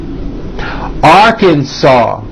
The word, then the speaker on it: Arkansas: Alabama, Alaska, Arizona, Arkansas. The final S is silent.